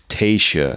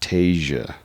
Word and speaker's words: Tayshia: the last podcast but it's tasa not Tasia so some Pro tips